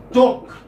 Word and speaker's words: talk: Of, for instance, talk. L is silent.